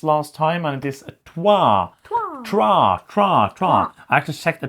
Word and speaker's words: trois: There is an R there. I checked like a French pronunciation video the other day, and it's like it's Trois. So it's not Trois without the R, but it's Trois. Oh, so the R is a little bit there.